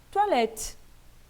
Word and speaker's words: toilette: Percebam que esse E não está acentuado, porque é então que a gente pronuncia E, né? Porque, fazendo a separação silábica, o que ocorre é que esse último E aqui, ele não é pronunciado, ok?